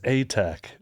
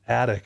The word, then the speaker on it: ATEK: And you're like, it's Atek. Yeah. Not Atek.